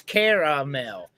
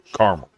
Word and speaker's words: caramel: It's only caramel if you spell it with the e in the middle. If you leave the e out, and both spellings are correct. If you leave the e l, it's caramel.